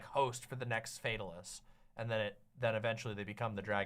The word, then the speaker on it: Fatalis: I love the lore of the Fatalis in Monster Hunter. Or I guess it's Fatalis is how it's said in the game. They say it Fatalis, not Fatalis.